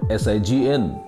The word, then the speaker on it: sign: teeth together number four s-i-g-n a very common word how do we pronounce this word s-i-g-n sign we pronounce this word as sign the meaning of this